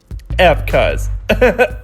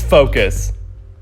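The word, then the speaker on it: F.CUZ: Know it? F cuz. LOL, just kidding. It's focus. I'm not even kidding, that's the name.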